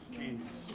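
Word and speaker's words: Keynes: Do you guys did Dr. Yim say canes or kees or canes?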